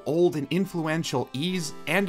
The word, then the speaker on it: Ys: while ease which I don't know why I kept pronouncing it as e in the last video I'm an idiot has maintained a cult